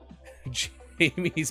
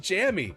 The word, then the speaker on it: Jammy: you nice chat and I'm saying Jamie's biscuits it's Jammy it's supposed to be Jammy biscuits or Jammy Dodgers uh